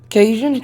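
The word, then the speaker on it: Caitian: How do you pronounce that? Kitty cat? Cation? Cation, thank you.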